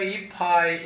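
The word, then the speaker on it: いっぱい: Eu digo Kohiyo ippai itadakimasu ka? Kohiyo ippai itadakimasu ka? Ippai significa xícara. Ippai. Esse P aqui dobrado significa que tem uma pequena pausa aqui, né? Como se tivesse um P não pronunciado, né?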